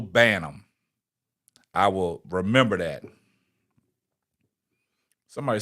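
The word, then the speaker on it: Banham: to be corrected man I butchered her name up now K Ellie Jones she got me straight it's Rachel banam I will remember that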